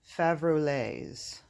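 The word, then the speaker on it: Faverolles: these are called salmon favroletes kind of sounds like Chevrolet if you look up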